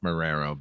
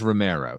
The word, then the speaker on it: Romero: I'm only bringing up Ralph Morero because my late wife Jessica could not pronounce the name of my favorite filmmaker, which was George Romero. She would always say George Morero.